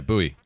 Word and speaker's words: buoy: o y buoy yeah buoy some people say boy I say buoy yeah booby is it